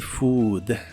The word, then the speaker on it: food: s spicy spicy y la doble o de la palabra Food se pronuncia como una u larga that spicy Food that spicy Food y